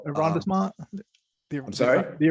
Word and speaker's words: arrondissement: Arrondissement? I'm sorry? The arrondissement.